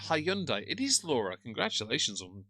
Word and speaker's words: Hyundai: It's pronounced Hyundai.